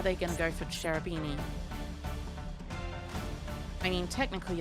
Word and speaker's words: Cherubini: shoot or are they going to go for cherubini i mean technically it's pronounced carabini because carobs are pronounced with the k sound